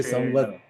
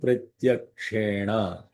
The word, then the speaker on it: प्रत्यक्षेण: संवत्सरं प्रत्यक्षेण संवत्सरं So when you say प्रत्यक्षेण give a little bit of Mahaprana for the tsa. So that Samvatsaram pratyakshena.